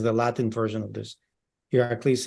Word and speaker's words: Iraklis: Iraklis is the Greek pronunciation of the ancient Greek is Heracles.